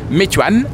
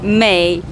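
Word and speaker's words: Meituan: par drone, elle s'appelle moi si je je la prononce avec ma prononciation de français, c'est Meuan mais je vais demander à Lucy la vraie prononciation en mandarin. C'est Mayan mais veut dire beauté délicieux to groupe.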